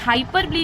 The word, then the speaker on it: hyperbole: इसको प्रोनाउंस करते हैं अक्सर मैंने बच्चों को प्रोनाउंस करते हुए देखा है हाइपर बोले ओके स्पेलिंग याद रखने तक का तो हाइपरबोले इज ओके आप स्पेलिंग याद रखने के लिए आसान से इसको कह सकते हो बट डोंट फॉरगेट इसका एक्चुअल प्रोनंसिएशन हाइपर बोले नहीं है इसे हम हाइपर ब्ली कहते हैं ओके अब ये हाइपर